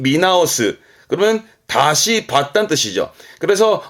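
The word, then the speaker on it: 見直す: 그럼 보는 거는 미루니까 발음은 미나오스.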